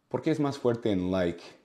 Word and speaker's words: like: good afternoon good afternoon like you know and Lee those are different sounds with like like it's